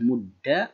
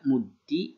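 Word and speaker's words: مُدَّ: Nah, berarti ini mudda berupa fi'il amar yang dalam pengucapannya boleh mudda, muddi, dan muddu. Akan tetapi kalau misal yang sering terjadi atau sering kita baca yaitu mudda ya, karena akhaful harokat yaitu harokatul fathah.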